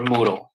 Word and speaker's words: Moodle: can just look for Moodle spelled like noodle but with an M there it is Moodle